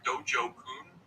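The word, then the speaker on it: dojo kun: got a dojo Kook is a done I pronouncing this right Dojo Koon that's right those are the five rules of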